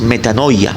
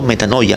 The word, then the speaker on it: metanoia: La palabra arrepentimiento en el griego es metanoia, que significa un cambio de mente y de